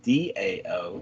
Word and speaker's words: Tao: spelled t-a-o instead of d-a-o in english but the primary pronunciation is about the same doubt dao and it means way